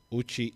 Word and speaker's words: Uchi: Ficha is spelled in the way that it sounds, Ficha. Uchi is UCHI.